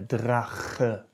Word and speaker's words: Drache: Der Drache, der Drache. Actually, this word combines two sounds that are hard to pronounce for foreigners. Rach, and the, yeah, Drache.